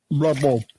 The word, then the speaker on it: Louisville: Lovell.